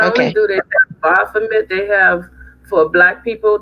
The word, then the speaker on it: Baphomet: Oh, Baflamin. Is it? Am I saying it right? Baflamin? Bafa. Baphomet. Baphomet. Yeah, child.